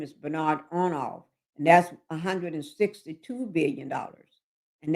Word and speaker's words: Bernard Arnault: His name is Bernard Arnault, and that's $162 billion. And that's his key investment is LVMH. I pronounced this last name wrong. That's Bernard Arnault.